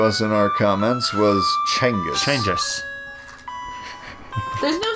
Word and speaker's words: Genghis: Genghis Khan. Chenghis. Genghis Khan. Chenghis. That's what. Genis. Well. GH is silent. The official pronunciation given to us in our comments was Chenghis.